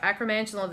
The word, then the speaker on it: acromantula: but it's the okay you're gonna have to pronounce it cuz I always just acromantula venom yeah there you go acromantula venom this is one of the colorways we